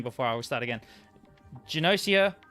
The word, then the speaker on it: Gnosia: i will start again genocia or potentially nocia i think the the word is allegedly based on the word gnostic or gnosticism so probably nausea is technically the correct pronunciation although i've always called it genocia is a social deduction